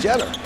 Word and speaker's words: Jeter: stop and pop is spelled just like Derek Jeter but it's not Jeter it's jeder did you catch Derek